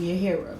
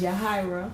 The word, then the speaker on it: Yahira: you on blast but a lot of people pronounce my name yira but my name is yahra yah I am from Brooklyn New York originally